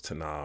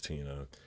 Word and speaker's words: Tina: I thought it was Tana or something like that. And she told me it was Tina.